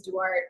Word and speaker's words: Duarte: yeah so luckily like my last name is Dart it doesn't look like it's pronounced that and none of my